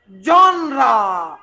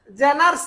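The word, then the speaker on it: genre: Literary জনরা। উচ্চারণ কি? জেনার্স না। তুমি এখন গুগলে লিখে, গুগলের ভয়েসের মধ্যে গুতা মারো, উচ্চারণ আসবে কি? জনরা, জনরা।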